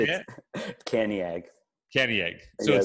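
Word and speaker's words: Cantiague: Caniag.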